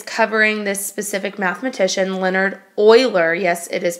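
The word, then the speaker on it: Euler: major one is covering this specific mathematician Leonard Oiler yes it is pronounced Oiler and he lived back in the 1700s and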